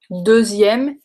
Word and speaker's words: deuxième: So, deuxième et douzième. Deux, dou. Deux, dou. I don't know if you can hear the difference.